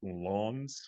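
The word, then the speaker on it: Lens: that team from France it's actually I checked it pronounced Lawns Lawns or whatever uh I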